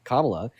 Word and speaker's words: Kamala: Like you guys know Harris's name like like you know that Kla Harris's name is pronounced Kamla, but then guess what?